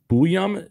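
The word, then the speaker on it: Buium: some of your players, this Zev, is it Bouyam? Is that how you pronounce it? You got the last name right. Zev is Zev, the first name.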